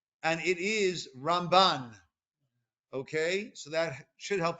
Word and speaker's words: Ramban: the rambam whereas nakhmanides emphasis on the second syllable he's known as the ramban right one is a ma and one is